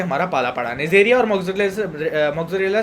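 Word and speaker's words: Moraxella: इसका एग्जैक्ट जो प्रोनाउंसिएशन है वो है मोरेक्जेला, पर मैं इसको मोक्सरेला बोलता हूँ, पता नहीं क्यों, मेरे को भी आज तक पता नहीं लगा, ठीक है। बस मैं बोलता हूँ, ठीक है। बस मोक्सरेला बोलने में मेरे को मतलब मज़ा आता है क्या, पर इसका एग्जैक्ट प्रोनाउंसिएशन है मोरेक्जेला, ठीक है।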